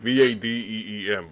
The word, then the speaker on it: Vadim: No, Vadim. Vadim, like Vadeem, Vadim. Gotcha. Technically spelled with an I, but yeah, the I is... You know what I mean? yeah, It's this pronunciation. It's English pronunciation.